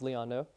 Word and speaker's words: Leon Ngo: last name is uh it's a vietamese surname so n g o uh it's the G's pronounced son it's kind of like winds do I bet people